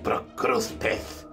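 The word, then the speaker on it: Procrustes: respondió el vendedor pero quién es capaz de pronunciar pro cross pets es malo para el negocio en cambio todo el mundo puede decir cross ti tiene lo mejor suena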